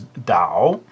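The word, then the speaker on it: 岛: And speaking of pronunciation, my understanding is that the Mandarin pronunciation of island, in Mandarin Chinese, is Dao, the third tone.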